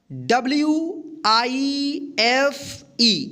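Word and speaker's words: wife: example में समझते हैं जो क्लियर हो जाएगा व इफ इसको क्या पढ़ेंगे वाइफ तो देखिए यहां पे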